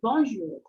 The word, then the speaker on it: Bonjour: dia em francês e como que a gente faz essa pronúncia esse om a gente precisa prestar atenção em dois sons que esse on bom Bonjour é como se fosse sonzinho de o n Bonjour e esse o